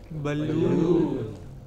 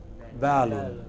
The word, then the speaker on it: balloon: Balloon. But wrongly we say balloon. It is not balloon. It is balloon.